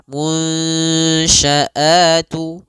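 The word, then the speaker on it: الْمُنْشَآتُ: Nah, caranya adalah kita samarkan nunnya kepada huruf syin munsya. Munsyaatu ya samarkan kepada makhraj huruf syin langsung. Seakan-akan kita ketika melafalkannya langsung mau melafalkan huruf syin.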